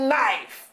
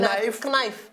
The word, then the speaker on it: knife: spell knife. N-I-F-E, knife. Yo, what's the K? They say K-N-I. What be that K? No problem. Knife. Knife. It's knife, all right? That K is silent.